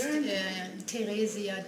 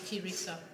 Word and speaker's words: Theresia: In German it's Theresia Degener. It's very difficult, but it's fine if you call me Teresa.